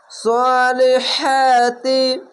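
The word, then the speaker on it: الصَّالِحَاتِ: করে গলা চিপে পড়বেন সলিহাতি খার জবর এক আলিফ পড়বেন এখানেও খার জবড়ে এক আলিফ পড়বেন হা উচ্চারণটি করতে গেলে বাতাস বের হবে এরকম দেখেন সহাতি অবশ্যই মনে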